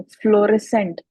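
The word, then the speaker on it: fluorescent: सी वाला सही है फ्लोरसेंट अब इसमें भी आपके पास पास जो है वो यू साइलेंट है। फ्लोरे सेंट अब सेंट में आपके पास जो है वो एस की आवाज अगर हम निकाल रहे हैं तो सी साइलेंट है।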